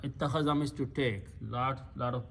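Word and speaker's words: اتَّخَذَ: In this particular bab, these 2 letters will be pronounced together as a ta and ta. So this will become ta with a shadda. Ittakhaza. Ittakhaza means to take.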